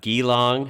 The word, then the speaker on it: Geelong: Geelong. Hey, to be fair, I pronounced that wrong a lot too, but it's definitely Geelong.